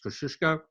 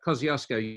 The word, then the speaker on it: Kosciuszko: the country and you can get glimpses of kosciuszko although if we use its correct pronunciation which most australians don't it's kosciuszko but kosciuszko you'll see bottom hand corner we've added to